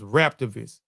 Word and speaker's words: Raptivist: How you pronounce that? Rap, Raptivist. Yes, Raptivist.